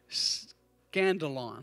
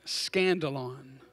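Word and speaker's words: σκάνδαλον: And that word offense in the Greek, I'm going to try to pronounce it right. Scandalon. Did I get it right, Randy? Right? Scandalon. Scandalon. I had to think scandal. Scandalon.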